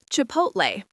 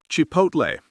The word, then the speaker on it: chipotle: Notice the L is silent. It's salmon, not salmon. Next. Chipotle. Chipotle.